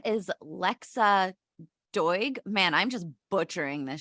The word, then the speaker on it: Lexa Doig: Her name is Lexa Doig. Man, I'm just butchering this shit up. It's spelled Doig if you guys want to Google.